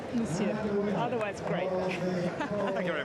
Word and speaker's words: Monsieur: Monsieur, not so much of the N. Monsieur. Monsieur.